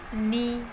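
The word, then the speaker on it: knee: के वर्ड जब भी कोई वर्ड के एन से शुरू होता है, के एन से शुरू होता है तो वहाँ पर के साइलेंट होता है। For example नी, नो, नाइफ, नॉट। तो यहाँ पे के एन से शुरू होने वाले सभी वर्ड्स में के साइलेंट है। वर्ड जो साउंड कर रहा है वो एन से कर रहा है।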